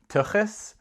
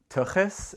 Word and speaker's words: tuchus: or about my parents but the word is tuchus tuchus and you pronounce that with sound which is in Hebrew